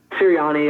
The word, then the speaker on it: Sirianni: Head coach Frank Reich and offensive coordinator Nick, how do you say that, Sirianni? Sirianni, yeah.